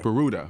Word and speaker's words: Peruta: can't remember if I'm saying it correctly Pera peruta okay yeah well this is a case that